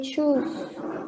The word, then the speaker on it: choose: Okay, we say choose. It's like shampoo.